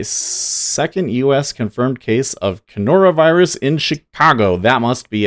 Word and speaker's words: coronavirus: Kenora, it's coronavirus.